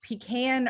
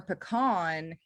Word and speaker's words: pecan: And also right before we got on, we were talking about, is it pecan or pecan? And Jonathan tells me that even amongst pecan or pecan farmers, it Yeah. is kind of a regional thing.